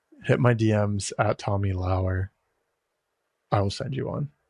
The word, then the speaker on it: Lauer: It being Lauer, not lower, still blows my mind. But and I did like a poll on Twitter. I was like, "Do you pronounce my name Lauer or Lower?" And I thought it was gonna all be Lower. Like 80% said Lauer, and then like it is Lauer, right? Like that's how you actually pronounce it.